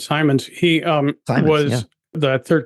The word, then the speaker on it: Simons: was satisfying yeah so the famous Jim Simmons uh he was involved in the in the buyout of the company you worked at yeah I think he pronounced it as Simons he um was that